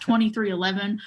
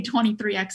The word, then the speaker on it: 23XI: at me like I have six heads it's pronounced 2311 which I like that name honestly I think